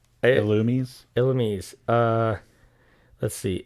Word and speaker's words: Illumise: i say it says illumi's elements uh let's see illumi's oh my god that's right the japanese pronunciation is illumisei the se at the end makes us say illumi but we're not in japan we're not okay do